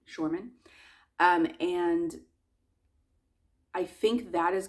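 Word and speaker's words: Shormann: And so I have looked up, I think it's pronounced Shorman math, not Sherman, Shorman.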